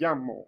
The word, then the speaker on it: llamo: makes an l sound however when there's two l side by side we have words like what makes up makes a y sound in some cases you go to different countries it makes a j sound um so you have words like me llamo or or things like that the letter l l